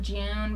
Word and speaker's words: Jun: ones uh okay so I know it's pronounced June but I don't like because she we've been saying John for them and I already got used to it yeah we're not new